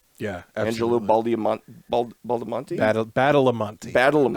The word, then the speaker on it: Badalamenti: Badalamenti, I believe okay, is the pronunciation.